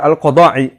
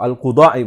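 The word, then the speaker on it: al-Quda'i: Demikian pula dikatakan atau diriwayatkan oleh Al-Qadai atau Al-Qudai bacanya, ya, dari Ibnu Abbas radhiyallahu taala anhuma, dan juga Abu Nuaim dalam kitabnya Al-Hilyah.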